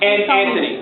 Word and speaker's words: Antony: Anthony. Anthony? Yes. Well, it's spelled like Antoine. It almost is.